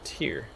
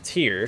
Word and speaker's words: Tyr: My favorite story about Tyr, which I've also heard pronounced Tyr before, but I don't think that's right. I think it's Tyr.